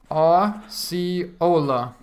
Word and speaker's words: Osceola: That's how you pronounce it? Osceola.